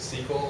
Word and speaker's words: SQL: as you can see sql is pronounced sequel like the sequel to a movie so we already talked